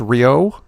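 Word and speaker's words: Rioux: Oliver, I think it's Rio. That's how you pronounce it.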